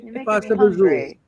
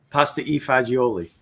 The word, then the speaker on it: pasta e fagioli: Pasta vazul. Pasta vazul. Oh, ask him how he says pasta vazul. Pasta e fagioli.